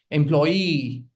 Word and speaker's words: employee: Employee. Employee. Okay. referee. Referee and Japanese Chinese. There are other syllable syllabic words like two syllabic words also